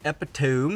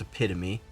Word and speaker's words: epitome: points to 375 okay contorted epito it's actually not how you say it it's epitome the contorted epitome went